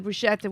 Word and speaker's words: bruschetta: And then we had then the bruschetta, which I know I'm saying wrong.